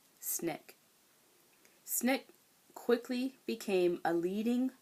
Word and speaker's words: SNCC: Student Nonviolent Coordinating Committee, SNCC, pronounced SNCC.